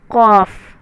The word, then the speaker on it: ک: अब जो हम लिखेंगे वो छोटी काफ है, तो छोटी काफ को हम प्रोनाउंस करेंगे ओनली फॉर काफ, हल्की ज़ुबान से कॉफ काफ बोलेंगे।